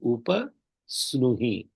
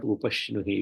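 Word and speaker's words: उपस्नुहि: Here there is no visarga. It is upa snuhi. Okay, not upashnuhi.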